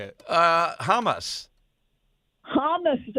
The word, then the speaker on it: Hamas: you say it uh hamus hamus it's it sounds like humus I didn't say hummus